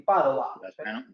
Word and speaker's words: Padova: Di Padova. Lo has Entonces, pronunciado perfecto.